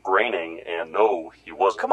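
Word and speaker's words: Groening: Navy no he wasn't yes he was Matt groaning was a nuke it's pronounced graining and no he wasn't come on haven't you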